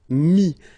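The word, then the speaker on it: mis: And then mettre, to put, so ETTRE will give you this IS, mi. Same thing here, final S is not pronounced.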